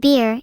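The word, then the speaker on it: خير: Well in Arabic is bayr, pronounced beer, if it's the noun.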